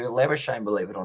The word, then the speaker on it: Labuschagne: So yeah, South African or Afrikaan, they do say Labuschagne, but for Labuschagne, he does prefer Labuschagne, believe it or not.